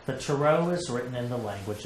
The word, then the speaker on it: Tarot: Tarot. That's how it's spelled. Well, where does it come from? Actually entered English from the French. And the word is pronounced Tarot.